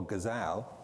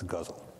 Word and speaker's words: ghazal: the poetic form that I used to call gazal but now know better and pronounce guzzle Mustafa mani's lecture of